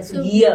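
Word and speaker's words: Soegija: Iya, Sugija ya, Sugio tapi bacanya betul. Bacanya Sugio ya.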